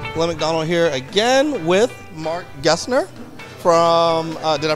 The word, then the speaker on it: Marc Gessner: mcdonald here again with mark gessner from uh did i pronounce that correctly you did you got it